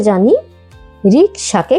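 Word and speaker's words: 人力車: সবশেষে জানি রিকশাকে কি বলা হয়।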